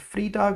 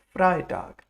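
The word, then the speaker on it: Freitag: Is it free tag or fry tag? Ei makes i. So it's fry tag.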